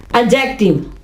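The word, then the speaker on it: adjective: देखिए मैंने यहां पे डी लिखा है, मैंने एडजेक्टिव नहीं कहा, इसलिए कि क्योंकि इसमें डी जो है वो साइलेंट होगा। इसको कहेंगे एडजेक्टिव।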